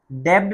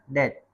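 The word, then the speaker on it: debt: तो ये डेप्ड नहीं पढ़ा जाएगा। यह पढ़ा जाएगा दैट। दैट माने रन।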